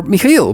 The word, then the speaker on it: Michael: Right, welcome everybody, Michael here, or Michael, because this is how you correctly pronounce it in my native language.